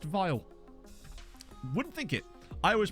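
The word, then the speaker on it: Vejle: he's very good uh so apparently it's actually pronounced vile uh fun fact one of the other things i learned about managing world management denmark is that it's actually pronounced vile wouldn't think it i always pronounce it as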